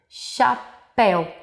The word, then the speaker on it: chapéu: um som por exemplo chapéu o c e o h estão juntos sem o intermédio de uma vogal ou seja sem a letra a e i o u no meio delas mas ao pronunciar nós ouvimos o som da letra x chapéu recapitulando pessoal encontro